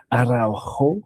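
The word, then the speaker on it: Araújo: in of course uh Ronald Arjo is the Brazilian pronunciation or aro because he was born in Uruguay uh the more Spanish pronunciation but um actually in Brazilian it would be a because the R is like an H as I found out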